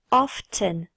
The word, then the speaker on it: often: pas RAR sometimes often tu peux également prononcer le T often bien attention à faire